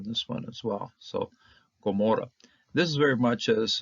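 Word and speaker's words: עמורה: So we see this ayin right here. Instead of just pronouncing the vowel that's on it, this hatepata, we pronounce it as a G, as a Gaian.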